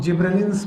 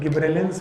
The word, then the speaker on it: gibberellins: जिब्रेलिक acid, जिनको commonly हम लोग जिब्रेलिन्स बोलते हैं। अब इनको प्रोनाउंसिएट करने के सबके अलग अलग तरीके हैं। कोई गिब्रेलिन्स बोलते हैं, कोई गब्बर सिंह बोलते हैं। So these are not gibberellins, these are gibberellins, जिब्रेलिक acid.